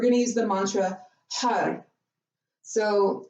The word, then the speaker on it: Har: to use the mantra hug so when you say this it might sound like a HUD like HUD but it's spelled hard so H a R